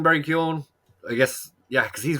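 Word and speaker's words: Keoghan: and i know that usually in irish the g is silent when there's a gh so he just [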